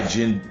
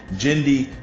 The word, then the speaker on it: Genndy: series adapted and directed approved and co-written by Jim I'm so sorry I said his name wrong genndy tartakovsky set in the Star Wars universe produced